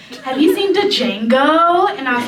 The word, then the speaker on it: Django: have you seen the Django and I was like well first of all the D is silent and yes I did